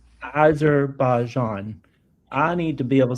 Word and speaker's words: Azerbaijan: Okay, teach me how to say it. What is it? Azerbaijan. Azerbaijan.